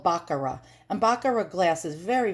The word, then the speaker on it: Baccarat: this is baccarat glass or baccarat and i pronounce it baccarat because i'm a new yorker and we pronounce a lot of things wrong but it's really called baccarat and baccarat glass is very very expensive and